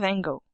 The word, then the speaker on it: Van Gogh: Our experience will be about the famous painter Vincent van Gogh. Want to sound fancy?